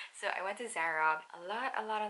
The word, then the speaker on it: Zara: went to zara actually they pronounced it differently here they say zara so i went to zara a lot a lot